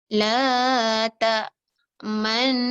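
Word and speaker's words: لا تأمنا: Ya, ada dua nun. Maka nun yang mati tu kita memoncongkan bacaannya. Sebab tu dia nun dia dah combinekan dua, dikasih to the power of sabdu. Okay, dikasih sabdu kerana actually dia adalah dua nun. Cara bacaannya, okay, perhatikan. La ta manna. Gitu. Harus dimoncongkan.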